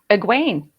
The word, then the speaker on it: Egwene: So Kitty, what's the actual pronunciation? You got it right. It's Egwene.